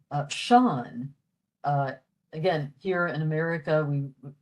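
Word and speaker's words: Seán: we would spell that S-E-A-N. So the E after the S produces the sh sound, and then the A fada, Sean.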